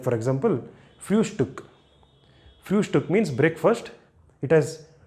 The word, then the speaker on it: Frühstück: Frühstück. So you give a pause here. And this ST, you should pronounce it as it is. No sh here, but st. ST, st. Frühstück, not Frühstück, Frühstück.